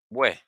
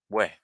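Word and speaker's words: bwè: haian cre to drink see equals where remember there's an accent okay where very good very good very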